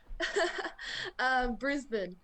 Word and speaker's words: Brisbane: Show me how to pronounce it again. I've been tripping over your accent, for the last couple of years. Brisbane.